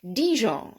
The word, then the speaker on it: Dijon: we we use all the time in english dijon which is a place in france and also